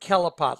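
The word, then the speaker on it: Kelipot: Kelapot. It's pronounced Kelapot, like K-E-L-I-P-O-T. It's Hebrew.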